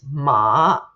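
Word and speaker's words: 马: Actually, the sound of the character sounds like the way it neighs, right? Meh, but it's ma, ma. So the character for horse is ma.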